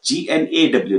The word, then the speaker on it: gnaw: G is silent. G-N-A-W, gnaw.